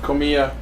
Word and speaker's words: Komiya: How you pronounce that? Komiya.